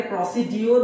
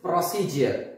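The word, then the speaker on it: procedure: education এখানে প্রসিডিউর বলি কিন্তু ট প্রসিজার প্রসিজার okay so ডি এর কারেক্ট প্রনান্সিয়েশন জ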